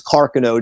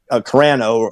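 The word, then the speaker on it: Carcano: and my understanding now the pronunciation is Carino not Carano or whatever it's Carino is the right maner Carano or carono rifles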